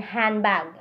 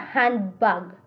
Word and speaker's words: handbag: For example, Most American English speakers do not pronounce D in handbag. Dili man siya handbag.